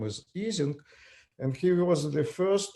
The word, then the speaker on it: Ising: Well, Americans pronounce Ising. In fact, since he was German, the right pronunciation is his name is Ising, and he was the